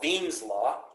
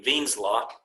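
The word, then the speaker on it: Wien's law: there's an equation called veen's law spelled with the w but pronounced with the v veen's law it tells you where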